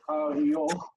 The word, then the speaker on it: Arioch: So this word is arioch. We're going to read arioch. Two closed syllables.